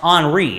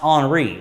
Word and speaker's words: Henri: name is actually pronounced on re it's a french name and that's spelled like henry but it's actually pronounced on re and so this could be tropical storm henri as it drifts south